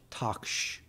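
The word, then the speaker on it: taqsh: And these are called toksh. It's spelled T-A-Q-S-H, toksh.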